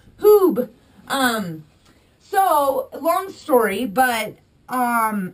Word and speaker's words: Huub: I think a lot of people in America wonder how to say this, or they say Hub, but it's Huub.